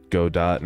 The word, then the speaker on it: Godot: I don't really care if people say go do or anything, you know? I'm just like, okay, that is that is one of the ways to pronounce it. But I always say GDAU.